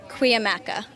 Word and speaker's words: Cuyamaca: I'm going to ask you because I've asked somebody, they have said it's Cuyamaca. I've had other people that say it's Cuyamaca. So I'm going to ask you the correct way to say your college's name. Cuyamaca.